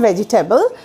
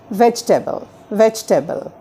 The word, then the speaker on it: vegetable: It's not vegetable. আমরা জয়ের পরে জি এর পরে ভেজি লং করব না. We have to pronounce it as vegetable.